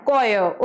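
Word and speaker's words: choir: बोलते हैं कोय yes students and आर E silent here so it will be pronounced S कोयर okay next सी दज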